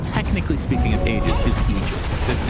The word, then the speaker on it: Aegis: Okay, so the correct pronunciation, technically speaking, of Aegis is Aegis. It's a literal word.